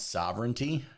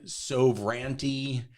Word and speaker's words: sovereignty: host of the show didn't know how to pronounce sovereignty. Oh, and they kept, you know, so ranty and he he literally couldn't answer their questions because he couldn't understand what word are you talk like the word the sounds that you're making when you put them together. The English language doesn't work that way. Like they were so far off on pronouncing sovereignty.